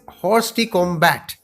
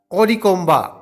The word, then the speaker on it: hors de combat: The next word is written as hors de combat in English, but it is pronounced as hors de combat. Hors de combat. It's a French word.